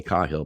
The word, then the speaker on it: Cahill: the professor dolores cahill i say cahill because that's how she pronounces her name challenging the new normal